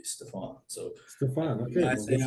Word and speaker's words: Stephen: Stefan, and then I, for the longest time, said Stefan. And it wasn't until I got the job here that I was like, I want to try and be a little more professional and say my name the way it should be, Stefan.